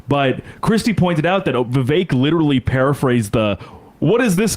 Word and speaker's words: Vivek: Vivek rhymes with fake.